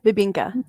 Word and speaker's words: Bibingka: And if you don't know what Babinka is that how you say it? Yeah, Bibinka.